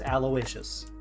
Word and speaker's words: Aloysius: Aloysius is what my mouth wanted to say for some reason. Okay. So apparently the sea slug's name is Aloysius.